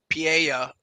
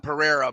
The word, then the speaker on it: Pereira: gonna go with Alex Pia most people call him Pereira but the r is not pronounced in Portuguese um whoa interesting John